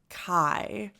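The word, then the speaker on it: Keyes: gonna get this right savannah kai is what i wrote down for the pronunciation even though her last name looks more like keys or k yes but snoop dogg pronounced it kai so we're going to go with savannah kai the song was called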